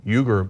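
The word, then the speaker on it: Uyghur: for uh a million you can pronounce it weager Muslims or yuger Muslims uh in China so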